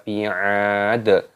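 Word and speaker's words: بِعَادٍ: Rabbuka bi'ad. Ainnya dipanjangkan, ada tanda alifnya, matobi'i dipanjangkan 2 ketukan saja, jangan panjang-panjang.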